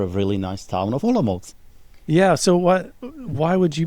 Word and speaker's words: Olomouc: And the name of the town, I'm going to get Tomáš to pronounce. Olomouc. Olomouc.